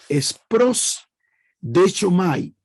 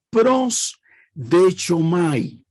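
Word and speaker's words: προσδέχομαι: Entonces, la palabra 4 que vamos a enseñar es prosdechomai, tal como se pronuncia, prosdechomai.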